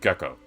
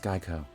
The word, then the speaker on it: GEICO: I've just discovered this strange place called Gecko. It's quite handy. It's pronounced Geico.